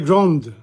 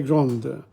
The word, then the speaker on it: grande: The final consonant sound is heard in the feminine form, but not in the masculine form.